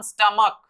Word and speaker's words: stomach: ठीक है, STOMACH, इसे प्रोनाउंस करते हैं हम स्टमक, स्टमक, इसलिए इसमें भी आपको केवल एस लगाना है, बन गया स्टमक्स।